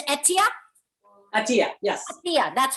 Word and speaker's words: Atia: i introduced myself because my name is ethia i would mispronouncing it it's etia yes yeah that's how